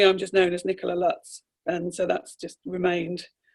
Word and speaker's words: Lutz: well, we say Lutz, but it's German. Lutz.